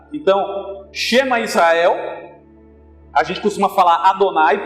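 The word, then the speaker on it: שמע ישראל: Qual seria a pronúncia disso? Então a gente lê da direita para a esquerda. Então está escrito aí, Shema Israel.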